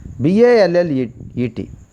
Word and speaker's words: ballet: And then the last one is, that is the 10th one, BALLET, which is a silent, T is a silent.